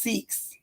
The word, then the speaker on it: Sikhs: It's pronounced Sikhs.